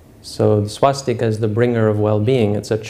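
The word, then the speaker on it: स्वस्ति: In the proper Sanskrit pronunciation is Swasti.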